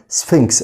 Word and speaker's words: Sphinx: البي اتش هنا بنطقها زي حرف الاف، فبقول سفنكس اللي هو تمثال ابو الهول.